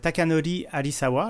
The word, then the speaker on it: Takanori Arisawa: la musique, qui est Takanori Arisawa. Alors, je vais prononcer en japonais, malgré mon accent pourri, parce que ça fait style.